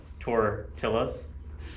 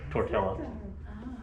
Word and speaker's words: tortillas: languages all that well pronouncing things like tortillas yes but sometimes he'll pronounce it tortella not the y sound of the not double l not one okay so they they